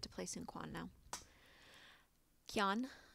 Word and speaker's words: Quan: Qian, I'm not sure how you pronounce the Q. I think it's more of a K sound.